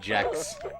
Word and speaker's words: Gex: The creator said he wanted it to be pronounced Jex.